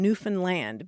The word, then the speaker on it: Newfoundland: They say, think of understand and Newfoundland because they get, Gotcha. they're not It's happy. not Newfoundland.